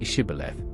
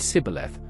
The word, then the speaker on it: Shibboleth: If he said, "No," then they said to him, "Now say Shibboleth," and he said Sibboleth, for he couldn't manage to pronounce it correctly.